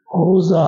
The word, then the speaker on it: rosa: Alors, les latins, comme les occitans, mettent l'accent sur la avant-dernière syllabe. Rosa. Il faut forcer.